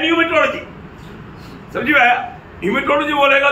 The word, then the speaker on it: pneumatology: PNE, अभी वहां पर P साइलेंट है, लेकिन लिखने के टाइम पर पूरा लिखना। PNEUMATOLOGY, न्यूमेटोलॉजी।